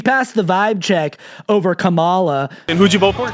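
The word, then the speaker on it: Kamala: For me, I think he passed a vibe check compared to like Joe, like Camela Hurst. Like, of course, it's Camala. Can't ever get the name pronunciation right because these people are right?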